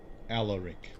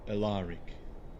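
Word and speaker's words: Alaric: Allaric or Allaric depending on how one wishes to pronounce it.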